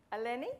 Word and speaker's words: Eleni: Eleni? Yeah, that's right. Oh, I thought that's what I did to start with. Eleni? Yep. Perfect. So that's all the stress on the right syllable, isn't it?